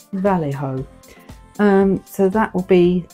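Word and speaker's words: Vallejo: that right now someone's told me how to pronounce it correctly Val ho um so that will be the next creation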